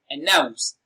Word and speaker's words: announce: Announce. Announce is pronounced and broken down into syllables as announce. Nouns receives the stress. It is pronounced louder and longer.